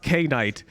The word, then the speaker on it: kNight: bro it is empty his name is pronounced K Knight and there's another guy